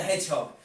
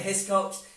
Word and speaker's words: Hiscox: Hedgehog my surname is mr. Hiscox and he struggled to pronounce that coming mr. Hedgehog that seemed fine brings